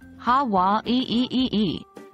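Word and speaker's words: Hawaiʻi: Putting it all together, it sounds something like ha wa ee. Take note of the slight pause after wa.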